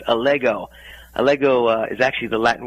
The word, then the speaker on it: Allego: You did have the name pronounced correctly. It's Allego.